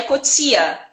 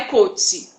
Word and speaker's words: Coetzee: O correto seria Coetzee. Só que essa é a pronúncia africânder. E aí a pronúncia que é mais comum é Coetzee.